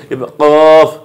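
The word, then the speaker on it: ق: জিহ্বার গোড়া, জিহ্বার গোড়া, এই জিহ্বার গোড়া, এই যে এটা জিহ্বা ধরেন, হ্যাঁ, এই জিহ্বার গোড়া উপরে তালুর সঙ্গে লাগায় কফ, কফ।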